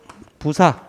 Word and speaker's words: 부사: 녹 5 다음에는 이것 부사 일본식 발음으로 는 2g 후지산을 닮았다고 해서 뭐 후지 라고 한다는데 어 이후 지를 한자 로 그대로 발음하면 부사 라고 한답니다 그래서 이 공로 같은